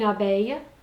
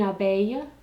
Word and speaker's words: abeille: Une abeille, there's another ILLE like a y sound. Une abeille, a bee.